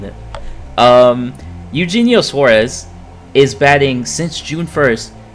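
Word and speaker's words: Eugenio Suárez: Auheno Suarez. I'll say his name correctly this time. Okay. I do know how to say his name. I just don't like saying it. Um, Eugenio Suarez is batting since June 1st, 280.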